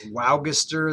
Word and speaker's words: Waugister: His name was Duke, and this is pronounced Waugister. That's how it's pronounced in Icelandic.